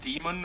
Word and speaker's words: daemon: as well be too he's always pronounced demon just spelled daemon yeah our our uh